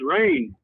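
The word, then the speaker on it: Rayne: My name is Rain. Rain? Yeah, like the weather, but it's spelled like Wayne, but with an R instead of a W.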